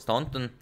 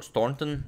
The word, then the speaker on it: Staunton: Barnes and then of course to his match or no match against the Howard Stanton or Staunton as some of you said that I should pronounce it but before we